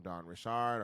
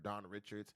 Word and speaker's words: Richard: stuff like that from Dawn Richard or Dawn Richards, depending on how you want to pronounce the name.